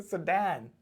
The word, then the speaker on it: sedan: you may want to consider how that is pronounced so i was like you're so right it's just a sedan so not seed and forget about that it's also called a litter